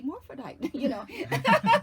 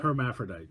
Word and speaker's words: hermaphrodite: And then she goes, Tonya, I'm just your everyday morphodite, Right. That's so funny. In New Orleans, they pronounce it morphodite. Morphodite. How do you pronounce it? Hermaphrodite. It's hermaphrodite.